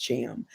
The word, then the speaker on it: Thiam: My last name is spelled Thiam, but pronounced Cham.